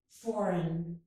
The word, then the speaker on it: foreign: And in foreign, we do not pronounce the G, foreign.